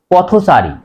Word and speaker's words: পথচারী: উচ্চারণে হসন্ত হলেও সমাসবদ্ধ শব্দের মধ্যে অ এর উচ্চারণ ও এর মতো হয়। পথচারী, পথ, পথ ছয়াকার রয় দীর্ঘী, সারি, পথচারী, এখানে